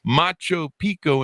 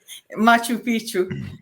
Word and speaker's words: Machu Picchu: should the ruins of Macho Pico in Peru the Mayans in Mexico I mispronounced that didn't I that's why you're laughing Machu Picchu no I've flown kindergarten